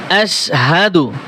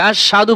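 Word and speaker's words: أشهد: দেখবেন কালেমায়ে শাহাদাত আশহাদু দেখেন এখানে কত বড় একটা ভুল করে আশাদু পরে গ্রামের মানুষ আমার মনে হয় 100 মানুষের কাছে যদি জিজ্ঞেস করা হয় তার মধ্যে 90 থেকে 95টা মানুষ বলবে আশহাদু বলবে এখানে আসহা এইযে দেখেন হা জবর হা সাদু বলে আশহাদু আশহাদু আল্লা ইলাহা আশহাদু আল্লা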